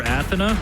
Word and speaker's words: Athena: Athena has to hang likes to call her Athena that's the correct pronunciation tribe for correcting him